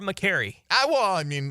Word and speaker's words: McCary: I was looking at his, Pro Football Reference has the pronunciation guides for these players once they get into the league a little bit. Okay. And that's how they have it listed there, McCary. I assume that's accurate.